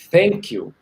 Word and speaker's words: thank you: pronúncia tá errado é thank you a pronúncia do F né é o t e o h é o que quebra a gente então se você ouve